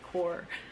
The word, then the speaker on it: Kaur: I think I've been saying her name wrong. I'm pretty sure it's Ruby Kaur. Ruby Kaur came from Instagram.